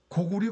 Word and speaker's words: 高句麗: 우리가 고구리 고리를 발음을 못합니까? 할 수 있잖아요. 그 문헌상으로 분명히 고구리라고 돼 있는데 조선 총독부의 명을 따라서